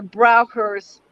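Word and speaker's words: Braucher: two is that i would say that the browkers would be a cognate of a shamanic tradition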